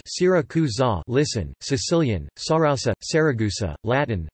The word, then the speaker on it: Siracusa: Syracuse, Italian, Syracusa, pronounced Syracusa, listen, Sicilian, Sarausa, Saragusa, Latin, Syracuse, Ancient Greek,